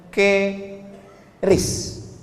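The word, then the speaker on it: QRIS: Sekarang di pintu-pintu masjid, di pintu-pintu mall ditulis ada namanya ke ris qis. Cara bacanya gimana sebetulnya? Keris.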